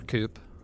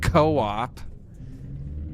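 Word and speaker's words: Coop: Coupe. Look where we are. A only it's pronounced co-op, but we'll pretend it says coupe.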